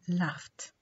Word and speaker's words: laughed: So laugh when we add ed we pronounce the ed or the past tense marker as ta. So we say laughed.